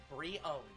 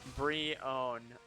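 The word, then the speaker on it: Brionne: the wild zelda franchise the critical consensus and this is on reddit because i don't have a better source is three pre-owned o-w-n brion yeah free own so that's how you pronounce the middle form b-r-e-e-o-w-n free own brie own okay the third form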